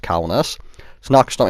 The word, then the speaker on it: Kaunas: So, big thanks to Jim Williams, who commented on my LHM TV video last night telling me that the map name was Lithuanian and pronounced Kaunas.